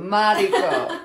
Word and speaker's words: Mariko: Yes, like Mexico, but Mariko.